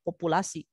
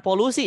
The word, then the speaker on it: populasi: ini ada yang istilah namanya populasi bukan polusi ya hati-hati biasanya kalian suka selintas baca polusi bacanya ini populasi-populasi itu adalah keseluruhan objek